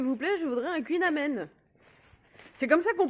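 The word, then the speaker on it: Kouign-amann: je dis, s'il vous plaît, je voudrais un Queen Amen. C'est comme ça qu'on prononce Queen Aman, mais tout le monde dit Aman. Bon, c'est déjà mieux que Amand, Queen Amand.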